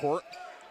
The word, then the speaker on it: Coordt: As Ben Court wipes off the court. Ben Court, last name is spelled Coordt.